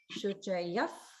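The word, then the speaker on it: शुचयः: And also in Shuchayaha, the Visarga, notice it's pronounced as if, and also there's holding. Shuchayaf Pavaka, Shuchayaf Pava.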